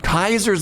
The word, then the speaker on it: Caesar: Um Kaiser's Legion. Remember that in your family New Vegas they pronounce Caesar Kaiser.